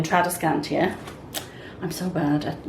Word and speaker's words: Tradescantia: Guys, this, by the way, I was mispronouncing this plant. I was calling it Tradescantia. It should have been Tradescantia.